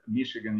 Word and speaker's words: Michigan: will be better then the pronunciation of the state of Michigan uh that's Michigan usually uh then um what